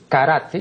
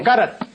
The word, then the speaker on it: karate: Aquí yo más de una vez he dicho que la pronunciación de lo que aquí equivocadamente pronuncian karate no es karate, sino karate.